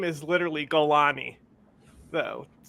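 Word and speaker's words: Jolani: his name is literally Golani though right like he's from the Golan Heights that's what it's just we spell it with a J but it's really a g it's Abu Muhammad gani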